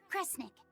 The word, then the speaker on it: Kresnik: Sound it out. Cre, Snira, Cre, Snick. Kresnik. Kresnik feels right somehow.